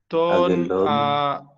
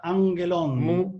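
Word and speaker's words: ἄγγελον: Aguelón. Aguelón. Esto se pronuncia angelón. Dos G se pronuncia así.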